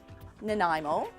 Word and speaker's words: Nanaimo: hotel room here at the dorchester hotel in nanaimo and it's becoming a little bit of a